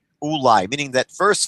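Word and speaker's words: אולי: lamid and there there's no question that it's pronounced ulai oolai meaning that verse 5 it can only be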